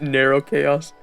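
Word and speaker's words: Nrvnqsr Chaos: Bro, what kind of spelling is that to get narrow chaos? Oh, okay, it comes from the original Roman spelling of the name Nero Caesar, but the official pronunciation is different.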